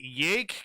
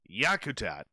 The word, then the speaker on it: Yakutat: She goes, "Do you know how to pronounce the word yak? Is it yake, Captain?" "Oh, by golly," she says. "Where's my glasses?" "No. It's Yakutat."